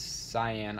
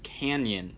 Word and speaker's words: canyon: So today I'll be talking about the what to feed giant cyan isopods. Okay, real quick, I say it wrong in this whole video. It's canyon isopods, giant canyon isopods.